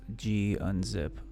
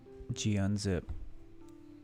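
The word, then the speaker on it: gunzip: something like so gzip g unzip or gun zip i think that's how it's correctly pronounced gun zip so um one thing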